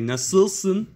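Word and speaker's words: nasıl: pronounced like for example say how are you in turkish say nassil and the uh sound is like a an eye without a at the top so yeah pretty like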